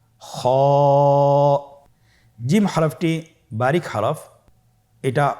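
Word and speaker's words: خاء: খ হরাফটির মাখরাজ হলো কন্ঠনালীর শেষ ভাগ হতে উচ্চারণ করতে হয়। কন্ঠনালীর শেষ ভাগ। আপনারা আমার সাথে বলুন খ আবার বলুন খ মাশআল্লাহ।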